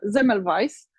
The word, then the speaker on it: Semmelweis: branży IT, jest Ignaz Semmelweis i to jest węgierskie nazwisko, ale czyta się je po niemiecku i być może nie